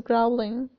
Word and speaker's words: growling: My stomach is growling. لا نقول growling بحرف O بل ننطقها A.